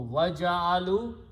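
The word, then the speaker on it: وجعلوا: An alif is written, which is not pronounced. So waja'alu, and they have made.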